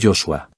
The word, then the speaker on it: Joshua: Entonces, el nombre de J era Joshua. Hoy, la mayoría de la gente pone el acento en la primera sílaba del nombre, pero debería colocarse en la segunda.